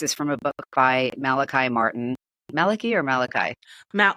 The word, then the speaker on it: Malachi: and the case is from a book by Malachi Martin Maliki or Maliki ma well uh he pronounced it Maliki Maliki okay yep father Maliki Martin so I